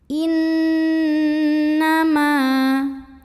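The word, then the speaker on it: إِنَّمَا: Kemudian ada hukum gunnah musyaddadah karena ada nun yang tasydid. Cara bacanya nun ini didengungkan. Bunyi N-nya tahan sampai ada getaran halus ke hidung, kurang lebih 2 harokat. Innama.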